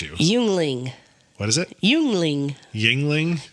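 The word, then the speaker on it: Yuengling: it first and then I will correct you yungling what is it yungling Yingling Yingling there it is how is y u e n g l i n g uling it's not uling it's Yingling Yingling when I think it's Yingling is would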